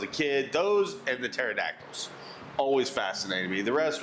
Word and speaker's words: pterodactyl: Those and the pterodactyls always fascinated me. The rest were like, yeah, okay, Why can you never know when a pterodactyl's going to the bathroom? I don't know. Because the P is silent.